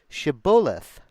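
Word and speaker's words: Shibboleth: They would tell him to say Shabulith. If he was from Ephereim, he would say Cibolith. They got a speech impediment. They talk funny. Because people from Ephraim cannot pronounce the word correctly.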